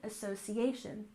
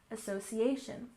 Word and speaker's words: association: well basketball basketball and Association we have stress here almost on the end of the word association association but normally you will hear